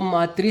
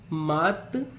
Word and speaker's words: मातृ: अब इसमें देखें अगर हम मातृ जमा ऋणम, तो मातृ शब्द का जब आप उच्चारण करेंगे मातृ, तो री का साउंड आ रहा है, री से ऋषि, और